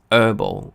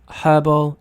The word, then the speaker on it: herbal: So someone will pronounce it as herbal. Okay, so both herbal and herbal are correct, right?